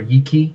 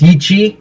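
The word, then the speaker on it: Yi qi: little funky batwing dinosaur, Yiki. Is that what it's called? Is that how you pronounce it? Yiki? Or Yichi. It's Yichi? Okay. Yeah, Yichi.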